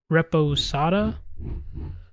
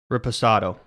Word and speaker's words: reposado: Reposada? I don't know how to pronounce that. Reposado. Reposado. That's what we're calling it.